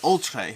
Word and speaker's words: Oltréé: today we are playing ultra i believe it's pronounced ultra it's not all tree i'm pretty sure i'm pretty sure it's the ultra ultra ultra uh that's the